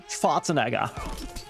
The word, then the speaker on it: Schwarzenegger: Schwarzenegger. Arnold Schwarzenegger. Isn't that how you say it, like in German? Schwarzenegger. Schwarzenegger. Schwarzenegger. Definitely not that. That's like an ultra-American version or way of saying it.